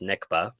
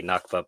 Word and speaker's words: Nakba: the N the nuba properly pronounced nicba but if I if I laps and say knba please forgive me four